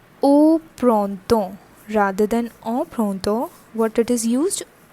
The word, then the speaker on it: printemps: But for learning purpose, I am telling you that this has a pronunciation like temps, and the complete pronunciation is printemps.